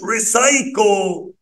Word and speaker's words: recycle: ك، علشان ما فيش اي ولا اي ولا واي، يبقى الكلمه دي اسمها ريسايكل.